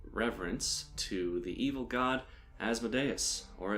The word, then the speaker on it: Asmodeus: say the name again people have their own opinions on how it is pronounced I like as the dais because I watched the red wall cartoon and that's what the snake called himself and he was evil